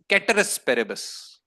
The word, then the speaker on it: ceteris paribus: given period of time people call it ceteris paribus, it's ceteris paribus. Ceteris paribus. Ceteris paribus. Pronounce ceteris paribus कहते हैं, Latin है.